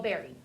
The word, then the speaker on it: bury: You do not have to write this, but I want you to look because some of you may not know how to spell berry. Berry is spelled B-U-R-Y.